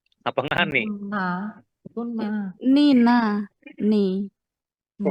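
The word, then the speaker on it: なに: Nani apa? Nah, ni na ni. Nah, ni kalau kanan itu nani nani ni bukan engni itu bukan ya nani.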